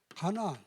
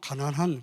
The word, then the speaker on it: 가나안: 가나안. 아, 잘못 발음하면 가난한 그래. 가난한 동네가 아니라 이게 가나안.